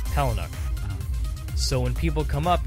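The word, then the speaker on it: Palahniuk: Because everyone thinks that they have it right. Poloniak. Yeah, it's. I believe, and I heard him say his name. I think a couple times. I believe it's Palinuk.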